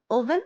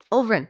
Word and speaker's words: Ulvryn: Any update on your Windrose, Ulvin? Are you winning? Ulvryn, sorry. I feel like I missed a syllable.